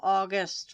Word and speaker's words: August: That is spelled like it sounds. August like the month, like the people from the north of France.